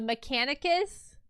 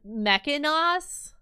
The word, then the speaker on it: Mechanicus: of people, and um the Mechanicus, I always pronounced Mechanos the entire time, and nobody corrected me.